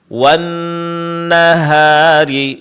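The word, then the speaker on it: والنهار: Membaca huruf ha dengan tabkhimuha dengan ditebalkan seperti wanahari dibaca wnahari wahri ini adalah kesalan seharusnya apa? Ha di sini tipiskan. Wanahari idza jallaha nam.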